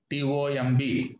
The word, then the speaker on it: tomb: Okay, you should not call it comb. B is silent. Comb, comb. T-O-M-B, tomb. L-A-M-B, lamb, not lamb. Okay, B is silent in all these words.